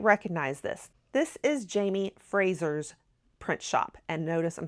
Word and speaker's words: Fraser: So I'm going to say it the Scottish way so that you can say it correctly when you're in Scotland.